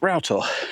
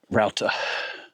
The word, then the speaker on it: Rough Tor: climbing up towards Rough Tor, which actually is pronounced Rough Tor. So now you know, if you want to avoid the judgment of all the seasoned moorland walkers, Rough Tor.